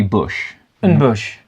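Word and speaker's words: N'Bushe: quickly the bush right it's n apostrophe Bush and Bush and Bush to Bush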